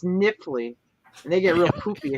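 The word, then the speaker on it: Knifley: for a long time we called it nightfly it's k-n-i-f-l-e-y but it's niffly and they get real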